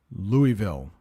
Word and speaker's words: Louisville: and the Kentucky Derby is held annually in Louisville that's how you pronounce that Louisville let's talk about two very difficult words here